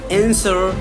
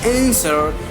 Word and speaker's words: answer: whole, whom, whose, whoever, answer, sword, to. Here, these are the example here. What exactly is silent? Silent is W. W is silent here. Who, whose, whole, whom, whose, whoever, answer, sword, and two.